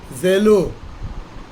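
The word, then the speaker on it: ζηλόω: Therefore, Strong's definition for this Greek word, which is pronounced zelo, to be zealous in the pursuit of good, to desire earnestly, or to strive after.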